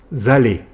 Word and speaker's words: allez: On obtient vous allez. Là, on fait le son E avec EZ.